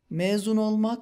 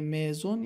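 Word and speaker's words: mezun: استانبول فارغ تحصیل شدیم مزون یعنی فارغ تحصیل شدن دقت کنید که حرف ا توی کلمه مزون یه خورده کشیده تلفظ میشه همون طور که می‌دونید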